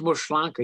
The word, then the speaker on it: Maslanka: Yeah, it's pronounced Maslanka.